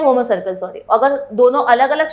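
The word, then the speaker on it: homocercal: देखो यहाँ पे एक लिखा है, एक वर्ड लिखा है that is called as homo circle. हम लोग इसको होमो सर्किल की तरह प्रोनाउंस करते हैं ना।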